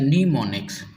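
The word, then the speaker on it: mnemonics: इट इज़ a pronounced as नीमोनिक्स। इसे नीमोनिक्स कहा जाता है।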